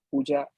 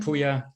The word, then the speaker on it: Puja: will pass it to puja i guess if i name it sorry if i pronounce it wrong that's okay it's it's weird german spelling uh i'm puya uh i've oh okay